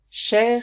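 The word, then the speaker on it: chère: This is pronounced exactly the same. Cher, cher, cher, cher.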